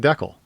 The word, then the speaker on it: decal: this is a decal decal for everyone else i recently learned that uh canadians are the only people that pronounce it decl so yeah that's that's